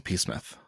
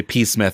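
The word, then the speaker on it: Psmith: nice and i say p smith because uh if you aren't reading it it is p-s-m-i-t-h but the p is silent very fine just like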